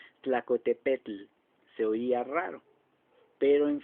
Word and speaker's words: Tlacotepec: cerros más elegantemente conté el imagínense como lo pronunciamos tlacotepec se oía raro pero en fin así es